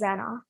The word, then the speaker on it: Zenah: And the pronunciation is Zenah.